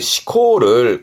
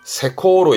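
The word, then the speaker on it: 施行: 발음은 시코 시코 요렇게 시험대가 많이 보여질 건데요.요 시행의 시코를 간혹은 세 코로 읽어요.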